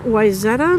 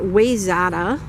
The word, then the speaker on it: Wayzata: I am in Wayzata, Minnesota, and a lot of people want to pronounce it Wayzata, but it's pronounced Wayzata.